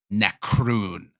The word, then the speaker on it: Necroon: I mean, in English, it's spelled Necroon. It would actually be in Draconic, but, C. Necroon. Only one C. Oh, so it's like a less yummy macaroon almost, but not at all.